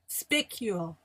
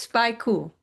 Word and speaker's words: spicule: No, it's spy cool. No, are you sure? Because I looked it up, and it says you pronounce it like pick with an S in front of it.